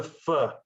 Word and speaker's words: pho: can enjoy what the fur what the what's the fur what's the fur what is i have it on very good authority that it's said even though it's spelled p-h-o that's not phone it's so the restaurant's